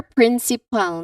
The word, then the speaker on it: principal: Remember, principal, not principal.